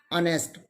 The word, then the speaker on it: honest: silent here next one honest h is again silent here honor h is again